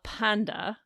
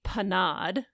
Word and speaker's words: panade: Atre dans la panda, which should be panade, not panda, but we get a panda bear in here.